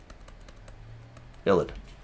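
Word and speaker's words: ylide: So it is pronounced ilid.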